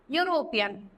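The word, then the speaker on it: European: देखो जैसे लिखा है ना यूरोपियन, तो यहाँ पे किसकी साउंड आती है? यू की आती है. ई एक तरीके से क्या हो जाता है? साइलेंट हो जाता है. तो वॉवल की साउंड आ रही है, सॉरी कॉन्स्टेंट की साउंड आ रही है. देखो यूरोपियन, वाई यू आर ओ, तो ऐसे लग रहा है ना कि जैसे वाई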